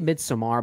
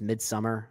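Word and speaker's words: Midsommar: hereditary yeah or Midsummer I I always say midamar but I guess it really is pronounced Midsummer um so mid yeah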